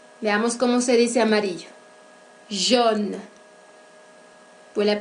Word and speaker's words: jaune: Jaune. Pour la prononciación, la A y la U se juntan para producir el sonido de O.